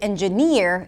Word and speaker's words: engineer: In the word 'engineer' the primary stress is on the final syllable 'engiNEER'.